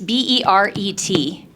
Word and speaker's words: beret: It's B E R E T, but it's pronounced beret.